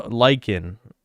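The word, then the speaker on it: lichen: Is that how you pronounce that word? Lyken. Ly like. No. Lyken. Right. It said lyken. Like l like them.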